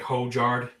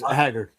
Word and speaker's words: Højgaard: He's like Hojgaard. Like Hojgaard, right? Oh uh it's Højgaard. Højgaard. You can you can There's no shot. Højgaard.